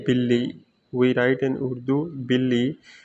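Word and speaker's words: بلی: B in this is called in Udu the pronunciation is Billy so in in Roman the like this for your easiness like Billy bil Billy so this is for your easy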